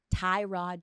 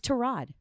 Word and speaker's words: Tyrod: got so many examples did you know it's not Tyrod Taylor do you know what it is it's trod that's what his mother calls